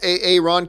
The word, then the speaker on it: Aaron: Like instead of Aaron, he's saying, okay, A.A. Ron.